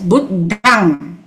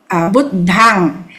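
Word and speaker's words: Buddhaṃ: The B-U-D-D-H-A-M with a dot is pronounced as Buddhang. Can you see? Yeah. Buddhang.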